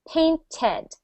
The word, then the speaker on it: painted: you will notice that for this pronunciation of Ed we have an extra syllable okay pained it's normally just paint I would like to paint my house but when we put Ed on it we add a syllable painted painted but for the other two